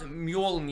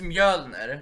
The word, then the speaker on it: Mjölnir: It's not Mjolnir. Torbjörn. It's Mjölnir. It's Mjolnir.